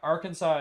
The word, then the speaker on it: Arkansas: said Arkansas yeah yeah Arkansas is correct it's like a silent s kind of yeah it's just it's